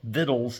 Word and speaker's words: victuals: They wanted to go to the market and actually get fresh bread, maybe some nice little, you know, viddles as it were or victuals as it's spelled in order, you know, show his wife a nice time.